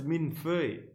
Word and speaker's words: millefeuille: Is that how you pronounce it? I know what that is. We call it millefoglie in Italian. It's like 1,000 leaves. I didn't know it was millefeuille. I guess it's like 1,000 paper.